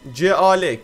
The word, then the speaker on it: Cal: Bizim ismimiz C-A-L. Kel. Kel diye okunuyor yani. C-A-L. Cal.